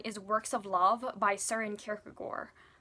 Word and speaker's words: Søren Kierkegaard: So number 9 is Works of Love by Søren Kierkegaard. Often his name is pronounced incorrectly, Søren Kierkegaard.